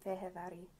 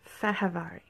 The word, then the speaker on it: Fehérváry: And the correct pronunciation of our rookie defenseman is Martin Martin Fehérváry.